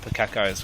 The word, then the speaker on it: Pukeko: I feel like the Santa Claus of Pukekos right now. I'm saying that wrong, aren't I? Yeah, it's Pukeko. Pukeko.